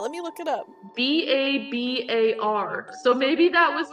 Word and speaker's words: Babar: me look it up b-a-b-a-r so maybe that was how you said it when you were young oh yeah like instead of Babar I'd say bar bear yeah maybe you misread